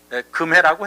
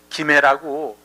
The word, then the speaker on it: 김해: 원래는 이제 금해라고 해야 되는데 조선시대 500년 동안 금극목을 한다 그래서 김으로 바꿔서 이제 읽게 했어요. 조선시대 때. 그래서 원래 뭐 한문에서는 쇠금자 금해인데 김해라고 발음을 하게 해가지고 우리가 쇠금자를 우리나라에서만 이제 특별하게 김이라고 이렇게 이제 발음을 하고 있습니다.